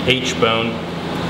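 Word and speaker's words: aitchbone: We're gonna kind of go, this is the H bone, actually pronounced H, but it's like A-I-C-H-T.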